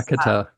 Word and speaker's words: Chemeketa: Yeah, so I coordinated with Kelsey from remind me how the name is pronounced, Bruce. Chemeketa. Chemeketa.